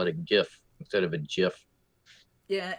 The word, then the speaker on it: GIF: So when he's the guy who created this format said choosy coders choose GIF. Anyway. That's the slang and how you remember the exact pronunciation of it. Although GIF makes more sense if you've seen it for the first time. Anyway, so the next clip